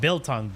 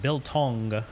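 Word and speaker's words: biltong: Like Ro said Billong. Not Billong. Bill Tong. You got him. Bilton, you trying out is good if you order it.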